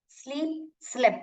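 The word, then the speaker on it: sleep: ड्र drawn draws drawing स्लीप slab कैसे pronounce करते हैं देखिए सलप ऐसे नहीं पढ़ने का स्लेप्ट स्लेप्ट स्लेप्ट और यहां पे देखिए डबल ई आ गया तो ई पढ़ोगे स ल ई प स्लीप्स स एंड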